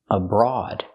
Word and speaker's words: abroad: The first syllable is not stressed, so we use a schwa, abroad. And the OA is special here. It makes the aw sound like on and off.